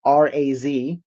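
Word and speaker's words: רז: If you want to spell out in English, it phonetically spelled out R-A-Z, Raz.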